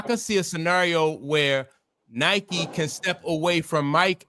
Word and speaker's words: Nike: It's the real name of Nike is Nike. You know what I mean? So when it was a running shoe. So when it first came out, like people pronounced the name wrong, but it's Nike, and people were like,